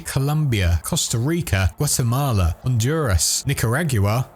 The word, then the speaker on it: Nicaragua: Costa Rica, Guatemala, Honduras, Nicaragua, which is the British way of pronouncing it by the way, Peru, and Venezuela.